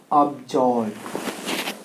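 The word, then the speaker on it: absolve: आपका उच्चारण एब्सॉल्व। ये तो केवल सॉल्व ही पढ़ाता है ना, इसे केवल तो सॉल्व ही पढ़ते हैं, लेकिन नहीं, अब यहां ये सॉल्व नहीं है, ये है अब्जॉल्व। क्या है जी?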